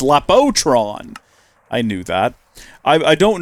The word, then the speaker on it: Lapotron: And it's not spelled like that, apparently. Is it Laptron, not Lap... Oh, it's Lapotron.